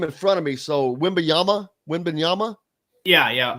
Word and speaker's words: Wembanyama: have his name in front of me, so Wembanyama. Yeah, it's something like that. I can never pronounce it. Wembanyama. Bob Kravitz did an excellent job. He's become fluent in that name. Wembanyama, I believe, is how you pronounce it.